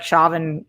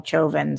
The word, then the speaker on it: Chauvin: this derrick chauvin trial who i've been calling derek chavin for a really long time but they call him chovin so uh not that